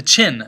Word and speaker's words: Qin: about the qin dynasty which is spelled with a q confusingly enough sometimes you'll also see it spelled with an x x i n but it's the chin dynasty after emperor chin chin